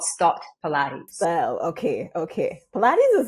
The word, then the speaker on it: Stott: I don't know if it was a Stott Pilates or Stott Pilates, or maybe I'm pronouncing it stoosh. So tell me what. Maybe you look at Stott is correct. Right. Is correct.